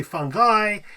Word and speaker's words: fungi: It technically in Latin it would be the I would be pronounced E. So it' be fun. I like how I like how the I is pronounced E, but the AE is pronounced I guess scream and then people but other people go well yeah but it's English. So you say fungi.